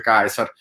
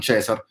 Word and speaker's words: Caesar: tedesche o inglesi tendenzialmente si usa la pronuncia scientifica, cioè loro leggono comunque Caesar e non Cesar, mentre noi a scuola in Italia utilizziamo la pronuncia ecclesiastica, però insomma a me non dispiaceva come risultato.